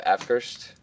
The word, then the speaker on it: Avkrvst: My pick is Waving at the Sky by Afkirst. I think that's how you call it. It's AVKRVST, Afkirst. At least that's how I see people pronouncing it.